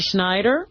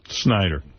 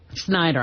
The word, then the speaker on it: Snider: and the brother-in-law of uh D. Schneider. Snider. Snider. I know I was mispronouncing. Christian Tarantino, who owns the